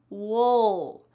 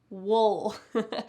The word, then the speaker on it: we'll: The next one, we will, becomes wool. Notice how you're almost swallowing that sound. It is not clear, we'll. It's not clear like that. It's wool, wool.